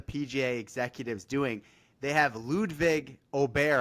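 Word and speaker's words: Ludvig Åberg: They have Ludwig Aubert, I believe is the correct pronunciation, Fair Ryder over.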